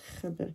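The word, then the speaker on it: خبر: Okay, make sure you pronounce the predicate properly, which is khabar.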